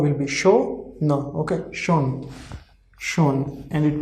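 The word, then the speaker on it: schon: Whenever SCH will come together, the overall pronunciation of SCH altogether it will be sh. Okay, so sh o no, sh o no, like sh o will be show no.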